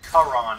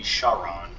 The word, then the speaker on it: Charon: we go to hermia i know i pronounce it kharan in this game but it is supposed to be charon i know that makes